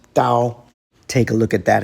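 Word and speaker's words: 刀: The knife radical is pronounced dao.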